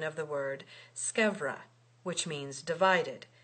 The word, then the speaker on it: scevra: to tell you that the pronunciation of that word, scevra, with a V, and not sciura, with a U, because it is a contraction of scavera. It remains to be seen which of us is wrong. You, madam, according to Aristotle, who makes scevra rhyme with persevera, and the rhyme would